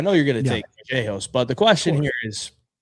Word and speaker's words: Vallejos: This is how he pronounces it, Kevin Vallejos with the B.